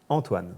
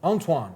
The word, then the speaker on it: Antoine: Antoine, but how do you pronounce it? Antoine. Antoine.